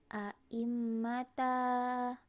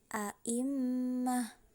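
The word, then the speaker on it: أئمة: Kalau kita mau berhenti, misalnya mau mengambil nafas, jadi tidak dibaca a'immata, bukan seperti itu cara membacanya, tapi a'immah.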